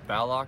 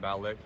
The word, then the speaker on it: Ballock: My last name is pronounced Ballock, not Ballick. It's like ballet and lock. Ballock.